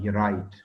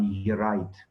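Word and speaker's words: Yperite: This mustard gas is called urite. This P is silent. This is called urite.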